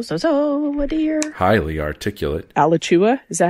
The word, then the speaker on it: Alachua: so dear highly articulate alechua is that how you say it um alachua like joshua but a latter and above all compassionate